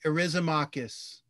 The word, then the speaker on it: Eryximachus: Yeah, don't look at the word. Don't try to look at it phonetically. Erysimachus.